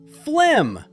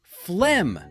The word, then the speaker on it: phlegm: It's pronounced Phlegm. Let's break it down. This tricky word looks strange, but it's actually simple. The correct way is phlegm. The F sounds like an F, and the silent G disappears.